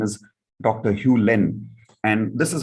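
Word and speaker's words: Hew Len: by this gentleman here his name is dr hugh len and this is how it is pronounced dr hugh lennon says below that dr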